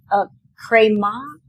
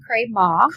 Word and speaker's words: Cré Maith: There's a name, Cré Maith. Cré Maith. Cré Maith. It's not spelled like that at all because where does it come from? It's Gaelic and it means good clay.